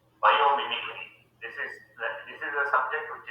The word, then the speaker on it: biomimicry: Electrical engineering with the main as biomimicry. Biomimicry. This is a subject which is not at all available in any of the Indian universities. Biomimicry, what pronunciation please? Yeah. Mimicry, regular mimicry.